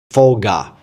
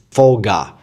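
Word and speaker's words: Phở Gà: The name of this restaurant is Pho Ga. Yes, Pho Ga. That's the correct pronunciation.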